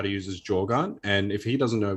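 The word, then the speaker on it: Jōgan: Jogan.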